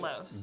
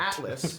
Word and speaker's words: Atlos: It's like Atlas. Altos. Atlos. It's like Atlos. Gout. Atlas, but Atlos.